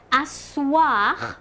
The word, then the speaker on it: asseoir: Like asseoir will have a E in it and you don't hear it.